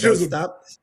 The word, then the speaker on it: Chisholm: Jazz Chisholm.